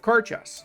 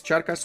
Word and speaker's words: Charcas: Chile, and we've got Carchas as our protectorate, whilst Peru unified, and it is a protectorate of Carchas. Charcas? I guess Charcas would be the actual pronunciation. Carchas would be the anglicized version, right?